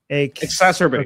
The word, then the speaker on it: exacerbate: Exacerbate. Okay, exacerbate. It's like masturbate, but more exacerbatory.